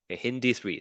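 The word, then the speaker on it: HindIII: with e R1 and hind three hindi3 that's how you pronounce Hind and then D and then three so how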